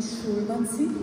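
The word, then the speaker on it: Šurmanci: Então, nós estamos em Schurmannsee, né? Se pronuncia assim, porque tem aquele circunflexo virado em cima do S.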